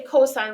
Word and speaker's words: cos: it looks like cos you still say cosine when you say it out loud kind of like um